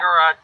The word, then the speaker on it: agorot: It's because I speak French and it ends in a T and it should be agaro. It should be. It's spelt like it should be agaro. But no, it's said agarot.